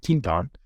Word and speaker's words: Quinton: the one Ketone Quint it's spelled Quinton but they've pronounce it tint on and that that's my